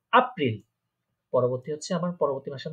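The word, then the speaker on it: April: হ্যাঁ, এপ্রিলকে আমরা কি বলবো? জার্মানে বলবো আপ্রিল, কারণ আমরা জানি এটাকে আ উচ্চারণ হয়। এটাকে বলবো আপ্রিল।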